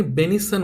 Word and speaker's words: benison: लोकांना म्हणायचा माझ बेनेडिक्शन बेनिझन आता याचाही अर्थ होतो आशीर्वाद आणि इथ याला वाचतानी बेनिसन वाचा याचा जरी उच्चार